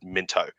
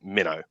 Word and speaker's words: Minto: called minto but yeah everybody that lives in minto does not pronounce it minto they pronounce it mino because so you've gotta